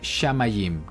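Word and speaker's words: שמים: cats muy bien entonces el sonido que hace falta es la a y diría shamayim Qué significa cielos y esta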